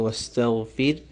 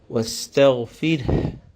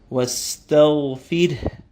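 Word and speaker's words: واستغفره: And also, by the end of the word, we have to pronounce a slight H sound, the ha sound. We don't stop at the ra, simply saying wastaghfir, but wastaghfir. A little breath should come out after the ra.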